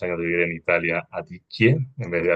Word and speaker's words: Adichie: Me encanta cómo pronuncias, después de varios años de vivir en Italia, Adichie en vez de Adichie. Esas Me lo estaba PH pensando antes. me encanta. Claro, como gnocchi, Adichie.